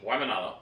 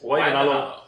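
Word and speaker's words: Waimānalo: Waimanalo. Yep. What? How do you say that? Waimanalo. Wow, you guys did Yeah. that good. Waimanalo.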